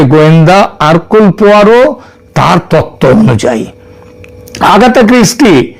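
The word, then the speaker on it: Hercule Poirot: এখানে তদন্ত চলবে আঘাতা কৃষ্টির যে গোয়েন্দা আরকুল পোয়ারো তার তত্ত্ব অনুযায়ী। আঘাতা কৃষ্টি এবং তার গোয়েন্দা আরকুল পোয়ারো। এটা যদিও ওই উচ্চার উচ্চারণে এটা হয় হারকিউল কিন্তু একচুয়ালি উচ্চারণটা হচ্ছে আরকুলপোয়ার তিনি যদি আজ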